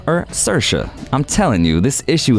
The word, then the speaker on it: Saoirse: while presenting the actress with the award spelled sao i rse her name means freedom in Irish but still the pronunciation is different depending on who says it